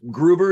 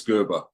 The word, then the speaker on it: Gerber: Is Gruber, is that the proper way to say it? Gerber, like baby food.